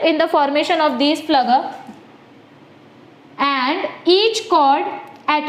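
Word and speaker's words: Pflüger: फ्लगर. Okay, P is silent over here or you can pronounce it as per your convenience.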